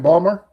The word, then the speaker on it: Baltimore: Is that Is that like Is that like Baltimore being Balmer? I never heard of that one. But yeah, if if you're from Baltimore, nobody pronounces it Baltimore. It's just Balmer.